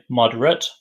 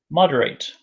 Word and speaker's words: moderate: tonight and the verb what's the verb moderate moderate notice the pronunciation different the adjective moderate and the verb moderate so for example for